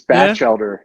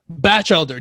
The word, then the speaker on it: Batchelder: It's Batchelder. Yeah? Batchelder, Batchelder.